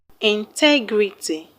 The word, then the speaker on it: integrity: For example, the word integrity has 4 syllables. Integrity. The third syllable from the end of the word is TE. That's why TE is being stressed.